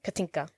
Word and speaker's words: Katinka: Katinka.